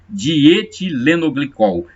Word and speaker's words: dietilenoglicol: A pronúncia, acho que é mais correta é essa, dietilenoglicol.